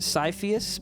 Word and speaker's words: Cypheus: It's pronounced Cypheus, but it's okay. No one gets. Oh, Cypheus.